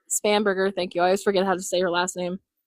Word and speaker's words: Spanberger: And just for So- anyone who's curious, I still voted in Virginia, and we're going to put in Abigail Spanberger. Spanberger, thank you.